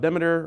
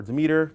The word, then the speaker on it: Demeter: If you're a purist and you're into like law of Demeter or Demeter, depending on how you pronounce it, we're definitely violating something here, but we know about it.